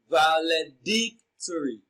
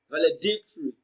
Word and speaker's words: valedictory: important so valedictory is pronounced and broken into syllables as valedictory so the third syllable d receives the stress valedictory now dig is pronounced louder and longer d